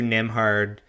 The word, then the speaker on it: Nembhard: Andrew Nembhard, the silent B is for baller, 25 points and 10 assists.